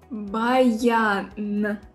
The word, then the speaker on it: баян: Баян.